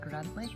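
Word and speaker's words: Grandtully: Um this is spelled Grant Tully that's pronounced Grantley and it's been through multiple changes of name over the years.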